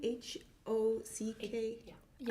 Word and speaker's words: Hocking: Is it, how do you spell that? Hawking, H-O-C-K-I-N-G.